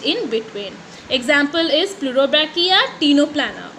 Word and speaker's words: Ctenoplana: Example is Pleurobrachia, Ctenoplana. Okay, C is silent over here.